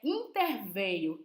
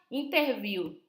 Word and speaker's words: interveio: ou escrever pensem bem a pronúncia correta é interveio e nunca interviu até a próxima dica